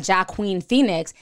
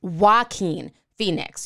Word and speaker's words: Joaquin Phoenix: name for me so now I know it's not jock queen Phoenix it's Joaquin Phoenix you know I'm saying